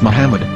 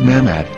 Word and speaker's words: Muhammad: Ben yehuda's Hebrew English dictionary it is correctly pronounced as Muhammad not mammad so how we're going to know for sure